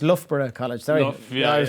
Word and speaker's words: Loughborough: there now yeah so it uh so it's pronounced loughborough college sorry yeah i was like is it lockbroke it's a little everything like new correction here